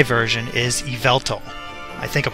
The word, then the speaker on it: Yveltal: flying one that represents the Y version is Yveltal. I think I'm pronouncing that right, Yveltal.